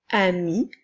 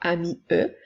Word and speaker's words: amie: ligne comme sa pointillée pour te rappeler qu'il ne faut pas la prononcer alors nous ne dirons pas amis eux mais bien ami nous avons deux mots